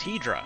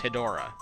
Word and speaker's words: Hedorah: movie, that's just like how I learned to say the monster's name was Hedra. And then like decades later, I come to find out it's actually pronounced Hedora.